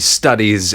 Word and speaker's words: studies: Akhiran ini pada kata Study. diucapkan sebagai Z.